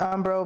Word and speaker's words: Umbreaux: Well, YouTube name is just it's pronounced umbreaux, but it's spelled UMBRE. Hold up, it's UMBREAUX.